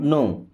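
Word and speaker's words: know: okay then I don't नो आई मीस होता है मैं डोंट मीस नहीं अब इस नो वर्ड में के और डब्लू होता है साइलेंट नो का मतलब मतलब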